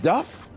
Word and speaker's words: duff: cook at the time taught that the word Duff was pronounced the same way that you pronounce uh